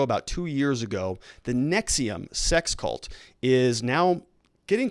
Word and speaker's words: NXIVM: was involved in the nexium it's called the nx ivm it's pronounced nexium sex cult and she's